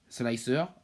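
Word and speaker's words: Slic3r: alessandro ranucci en 2011 slicer qui se prononce slicer en anglais slicer signifie d'ailleurs trancheur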